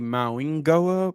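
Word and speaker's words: Mauigoa: Because I'm hearing it now pronounced like with an N. But is it Maigoa or Mainoa? So one of them spoke and they said it's supposed to be Mawingoa, but they don't mind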